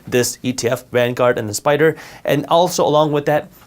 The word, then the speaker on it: SPDR: an ETF made by spider spdr they're pronounced spider but these are two